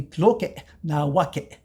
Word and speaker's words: Tloque Nahuaque: Well, and again, we need that saltillo to pronounce it correctly from the classical. So it would be Tloque Nahuaque. So you have that saltillo, which in the suffix indicates that he is the possessor of.